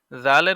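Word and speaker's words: ذال: হয়ে যাবে জাল জাল জালের উচ্চারণ আছে জালের উচ্চারণ হলো জাল জিহ্বার আগা হতে নরম ভাবে আদায় হবে আর পূর্বে আমরা আরেকটা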